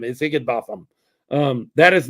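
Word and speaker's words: Higinbotham: H I G I N B O T H A M is Higgin Botham.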